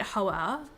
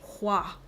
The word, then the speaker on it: Hoa: Oh yeah, okay, so I pronounced it Hoa forever. But I'm friends with on TikTok with the person who's doing like in charge of the physical release in the UK and EU and says it's pronounced Hua.